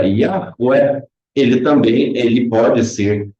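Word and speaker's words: Yahweh: E como nós vemos as letras que escrevem esse nome que se pronuncia Yahué, ele também ele pode ser lido através de suas letras individuais, sendo iot, rei, vá, rei, né?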